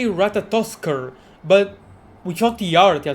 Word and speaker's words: Ratatoskr: Okay, he did say Ratatoskr, but without the art, yeah, so Ratatoska? So her name, the pronunciation is actually Ratatoska.